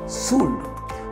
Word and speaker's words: should: कहा जाता है शोल्डर ऐसी फ्लोर LED कि उच्चारण होगा सूद सूद से शुद्ध बना इस सच को यूं